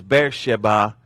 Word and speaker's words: Beersheba: Therefore the name of the city is Beersheba unto this day. I thought that was Beersheba. Beersheba is how we pronounced it. Oh, okay. Actual Hebrew pronunciation is Beersheba.